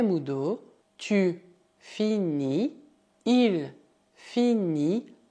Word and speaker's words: finit: Isso dá je finis, cuidado, o S final é mudo, tu finis, il finit, aqui também o T final é mudo, nous finissons, vous finissez, elles finissent.